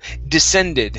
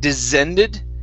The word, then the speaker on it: descended: So descended instead of descended. Okay. Give me a normal S sound.